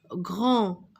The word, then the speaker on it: grand: Le grand-père, le grand. Alors, ici, regardez, GR, greux, avec en. La lettre D ne se prononce pas.